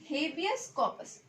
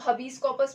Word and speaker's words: habeas corpus: Okay, तो जो पहला है वो है आपका हेबियस कॉर्पस। ओके, इसको बहुत सारे लोग बहुत तरीके से प्रोनाउंस करते हैं, जैसे कि इसको हबीस कॉर्पस भी बोलते हैं, लेकिन जो है ये लैटिन वर्ड है।